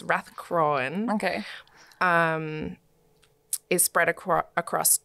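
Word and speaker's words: Rathcroghan: Another famous site is Rathcroan, which is further to the west from Clacton. Mm-hmm. And Rathcroan, it's spelt Rathcrogan, so I keep reading that. It's Rathcroan.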